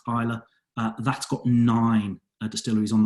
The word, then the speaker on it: Islay: then I like it looks like it said Islay but it's pronounced Pilar that's got nine distilleries on that on that